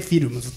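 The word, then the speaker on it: Philms: もらってますあのフィルムのフは PH でフと ph でフィルムズと読みますのであのもし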